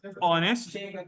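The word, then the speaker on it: honest: ही इज एन ऑनेस्ट मैन। यहां पर भी हमारे पास एच साइलेंट होता है। जी सर। और हमारे पास किसकी आवाज आती है?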